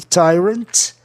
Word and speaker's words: tyrant: E tyrant, duas sílabas só, uma consoante no meio, a tendência é o I ou Y soar I.